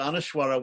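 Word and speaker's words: anusvara: on top or underneath which is pronounced like MA or like M mmm or mmm depending on whether you're in South India North India and and the AHA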